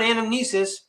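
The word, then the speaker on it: anamnesis: But here's the word anomnesis soul resonance. And I I need to pronounce it like this. Anomnesis.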